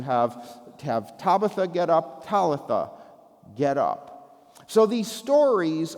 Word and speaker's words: Talitha: So Talitha in Aramaic means little girl and then it rhymes with Tabatha which is an Aramaic word actually for a do or a gazelle.